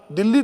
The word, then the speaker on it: Delhi: आज भी मुझे कभी कभी लगता है, हम दिल्ली का स्पेलिंग क्यों लिखते हैं दिल्ली का? दिल्ली तो कहते हैं, दिल्ली में आया हूं, तो DELHI क्यों लिखते हैं?